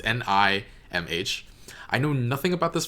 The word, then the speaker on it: NIMH: I don't know how to pronounce it. It's Nimh.